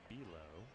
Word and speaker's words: Below: Bilo spells his name like below. B-E-L-O-W. It is pronounced Bilo.